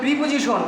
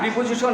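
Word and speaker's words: preposition: তারপর আমরা বলি প্রিপোজিশন, না প্রিপোজিশন ইজ not correct spelling, প্রিপোজিশন উচ্চারণ হবে প্রেপোজিশন। The correct প্রনাউন্সিয়েশন ইজ নট প্রিপোজিশন, ইট ইজ প্রেপোজিশন।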